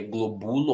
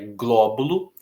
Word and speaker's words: glóbulo: Em glóbulo, a sílaba tônica já está bem marcada aí, né? Em português, nós só colocamos acento na sílaba tônica, então é o gló, senão ficaria globulo ou globulô, e é glóbulo.